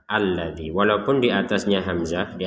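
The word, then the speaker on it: الَّذِي: dengan hamzatul wasl jadi hamzatul wasl itu ketika dikata alladzi maka dibacanya ini hamzahnya ini fathah alladzi walaupun di atasnya Hamzah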